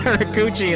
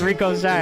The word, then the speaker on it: Rico Shy: And it's not Rikuchi. It's Rico Shy, and I'm so glad I know how to say it now.